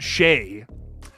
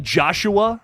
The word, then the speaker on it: Shay: when you read this, but it's pronounced Shay. Well, see, I was thinking like Joshua, like I don't know why I saw that and I was like, Joshua, maybe. Like that's like the second half of that, but that's not in fact what's going on here. Shay. There we go.